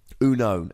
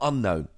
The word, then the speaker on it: Unown: Unown. And it is Uno, not Unknown. It's a pronunciation which is very strange.